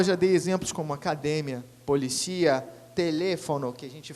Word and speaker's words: academia: igual, como, por exemplo, academia, que em espanhol se fala academia, polícia, que em espanhol se fala policia, são palavras com a mesma escrita, cara, idênticas, mas mudam o quê? Mudam a sílaba tônica.